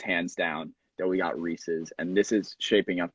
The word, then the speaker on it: Reese's: Before we go on there, I gotta say, it's pronounced Reese's.